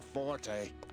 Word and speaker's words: forte: I hear saving women really isn't your forte. It's Fort. You don't pronounce the E. No, it's Forte. What did Logan, my friend, always say it was?